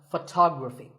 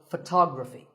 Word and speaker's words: photography: next word is photography we say photograph but photography so the first syllable becomes and the stress goes to the second syllable tog Rafi so photography in the same way